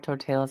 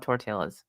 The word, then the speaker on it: tortillas: but um low carb tortillas and I actually like them I didn't know they made those strines I love tortillas so or tortillas Jim gets so mad when I pronounce the L I love food and